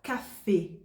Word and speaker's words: café: O acento agudo, ele fecha o som da vogal. Então você vai pronunciar café.